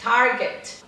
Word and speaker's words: Target: Ah, o T é quase mudo, tá vendo? Como no Kmart também. Target.